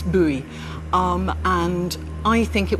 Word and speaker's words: Bowie: I always used to think that one pronounced his name Bowie until somebody told me, "No, you're wrong. It's buoy."